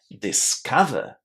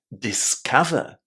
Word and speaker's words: discover: Discover. Discover. How is the letter O pronounced? It was a short A, wasn't it? Exactly like the sound in just or but.